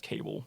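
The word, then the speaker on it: Cabell: it's actually pronounced Cable.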